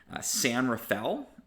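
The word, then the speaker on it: San Rafael: Point Ray so remember SF or the city San Rafel is the proper way to call that one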